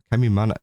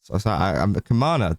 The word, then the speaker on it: Kamana: of dragged through it by Kamimana, Kamana, that's how you say it, Kamana.